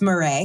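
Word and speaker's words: Marey: you may be able to pronounce this name better than I, because my French pronunciation is very poor. Etienne Jules Marais. It's Marais.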